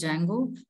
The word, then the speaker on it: Django: applications I will have Django D is silent we call it as Django then there is flask